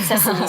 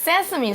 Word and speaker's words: sesame: Yeah, but it has something to do with sesame seeds. Sesame 这个字呢，要特别注意它的发音了，它不是 sesame，然后它是 sesame。这个从小大家耳熟能详，芝麻开门就是 open sesame。在这里呢，就是指这个面包上的芝麻籽 sesame seeds，要一粒一粒的粘到面包上面去，可能看起来会比较立体，或者是芝麻分布才会比较漂亮。It does take a lot of patience and time to do that.